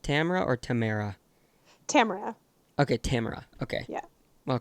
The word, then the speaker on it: Tamara: Is it pronounced Tamara or Tamara? Tamara.